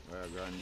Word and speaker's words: Rio Grande: Rio Grande.